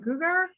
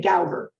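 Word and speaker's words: Gougar: That 1890s when Helen, how do you say her name, Gugar? The people in Lafayette say Gauger. Other people say Gugar. So okay. I go with Lafayette. All right, Gauger.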